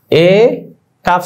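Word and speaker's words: ایک: যেমন দেখো হামজা ইয়েজের এ, হামজা ইয়েজের এ কাফ সাকিন এক, এটা কিন্তু ইক হবে না। আমরা মনে হয় যে এটা উচ্চারণ করি ভালো লাগে আমাদের কাছে, হামজা ইয়েজের ই, না না এটা ভুল হবে, এক হবে।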